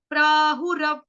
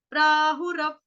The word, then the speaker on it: प्राहुरव्ययम्: आघात किसका आएगा, आधे व का, व्यक्ति वाला जो आधा व होता है, वो वाला गोल वाला होता है ना, ओ की तरह जो छोटा सा लगता है, रव, रव, रव, प्राहु रव, प्राहु रव।